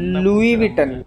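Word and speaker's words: Louis Vuitton: दे improper रहने दे उसको बोलते लई विटन नहीं लुई विटन ही बो जाने दो जाने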